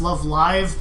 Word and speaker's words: Love Live: Like no one wants me to go and say like actually it's pronounced love live because they're live performing and like no don't do that.